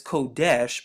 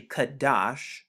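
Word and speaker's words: קדש: like this word here they pronounce it as kodesh but as we just talked about it's actually kadash now if you would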